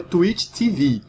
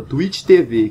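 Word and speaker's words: Twitch TV: começar uma pequena observação a pronúncia original e tuíti tive mas aqui eu vou adotar a pronúncia portuguesa twittv que apesar de não ser a correta é que muita gente adota beleza bem antes de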